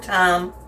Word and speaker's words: thyme: Thyme, crushed thyme leaves, or thyme. I don't know why I say thyme. I always try to pronounce it the way it looks.